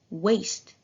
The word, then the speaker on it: waste: the word waste here we didn't pronounce the a in the word waste with a short a sound but we produced it with the long a sound why did we do